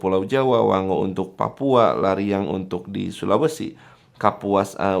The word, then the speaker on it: Lariang: Terus ada lagi setelah itu ada Lamiang. Nah, semoga inframe semua ya. Predator River Seri Lariang. Sori saya ingatnya e kebacanya Lamiang.